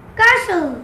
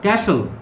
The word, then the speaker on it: castle: How do you pronounce this word? Castle. Castle.